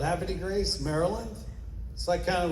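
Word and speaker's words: Havre de Grace: How do you say it? No, I'm Baltimore. Happy Grace. Happy Grace, Maryland. That's how you say it, huh? Happy Grace, Washington.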